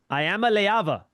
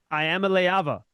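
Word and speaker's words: Iamaleava: Niko Ayamaava. Nikico Ayamaava. And that's how you pronounce the last name.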